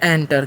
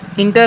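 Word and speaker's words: enter: तो इसमें हम लोग पढ़ते हैं। एंटर। क्या पढ़ते हैं? एंटर। इंटर नहीं पढ़ना है।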